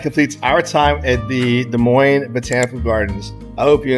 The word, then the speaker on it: Des Moines: I don't know what they teach in geography school anymore, in geography class, but it's Des Moines. The S is silent, it's French. Des like Moines. Des Moines, it's French, like Des Moines.